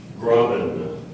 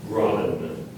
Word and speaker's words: graben: Graben. Graben. Would you please repeat the word? Graben. Are there any alternate pronunciations?